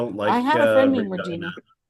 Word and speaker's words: Regina: Rhymes with vagina. Regina. The city that rhymes with fun. Like Regina, but it's Regina.